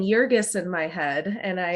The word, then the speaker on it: Jurgis: And a German professor told me here at Mary Washington that it's probably pronounced Jurgis with a soft Okay. G, and I thought to